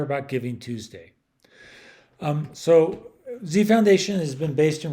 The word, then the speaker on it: dZi: dzi stand for well it's dzi but it's pronounced z and it's small d